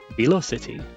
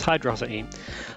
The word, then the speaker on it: Hydrocity: If it was Velo, then City, you know, Velo City. But no, it's Hydrosity. That's what my mother said to me back in the day when I asked how to pronounce it, and I've just kind of stuck by that.